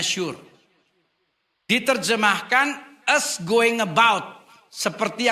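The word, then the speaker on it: שור: lain-lain sekarang tinjauan bahasa tembok dalam bahasa ibraninya tertulis s h u wrr cara bacanya Sur diterjemahkan us going about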